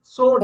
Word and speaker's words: sword: சோடு, சோடு, sword, பட் அங்க W வந்து டபிள்யூ. நீங்க அந்த மூவிஸ்ல பாத்தீங்கன்னா அழகா பேசுவாங்க. சோடு, சோடும்பாங்க. நமக்கு திடீர்னு அந்த நினைப்பு ஸ்வாடுன்னு நம்ம படிச்சு படிச்சு பழக்க கனெக்ட் பண்ண மாட்டோம்.